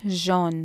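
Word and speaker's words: jaune: அடுத்தது கலர் மஞ்சள், அதை நீங்கள் ஜோன் தான் சொல்லணும். முதல் சொன்ன மாதிரி ஏயு ஃப்ரெஞ்சு சேரிக்க ஓ போலரான் இருக்கும், ஸோ அதை நீங்கள் ஜான் ஜான் என்ன சொல்லணும்.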